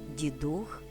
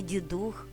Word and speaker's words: Дідух: з пшениці проса жита Дідух зверніть увагу друзі саме Дідух а не Дідух як багато хто з нас говорить запам'ятати наголос у цьому слові легко усвідомивши що Дідух - це дух діда дідів тобто усіх наших родичів